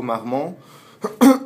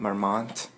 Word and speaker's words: Marmont: chatau welcome to chatau mmon notice the proper French pronunciation chatau MMO this is not Marmont this is not Vermont we're in Los Angeles